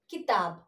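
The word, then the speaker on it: किताब: Fourth word is kitab. Kitab. Not giving stress to anything. Isn't it? Kitab. Not I am calling it as this word as kitab. But only kitab. Not giving stress.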